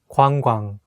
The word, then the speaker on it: 관광: 관광, tour, 관광, tour. It can be the word that is not easy to pronounce because it has two double vowels next to each other.